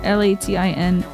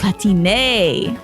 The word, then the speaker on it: Latine: All vowels always pronounced in Spanish.